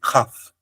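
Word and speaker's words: כ: Everybody in Israel says this is Kaf, but it's not Kaf. It's actually Kaf. So it's important to go back to the biblical pronunciation for reading the Torah.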